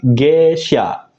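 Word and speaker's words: 下車: Kanji mobilnya dibaca sha, G sha.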